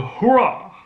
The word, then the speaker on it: hurrah: Hurrah, yeah, that's how, at least that's how the British female Siri tends to pronounce, at least that's how the British version of Siri tends to say. Hurrah, yeah, not hurrah, hurrah.